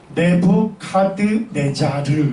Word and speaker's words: 네부카드네자르: 네부카드네자르 이렇게 불러요. 쉽게 얘기하면 똑같은 단어인데 발음하는 음력 체계가 다른 거예요.